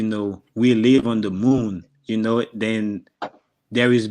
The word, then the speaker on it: moun: You say moon, but you spell it with MOUN.